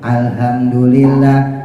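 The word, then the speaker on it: الحمد لله: pakai hak gede alhamdu alhamdulillah alhamdulillah itu hak gede Kalau hak tipis Arrahman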